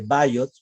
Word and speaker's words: Biot: Pero esta respiración de Kussmaul puede tornarse aún peor y enfrentarse a lo que llamamos respiración de Biot o de Bayot, por su pronunciación en inglés, que es de intervalos similares con la diferencia o el ingrediente adicional que hace pausas, ¿cierto?